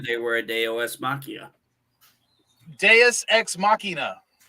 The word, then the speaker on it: deus ex machina: were at aos machia deus ex machina so i said day os machia no you're not saying it right and you're you're irking my latin it's just a dss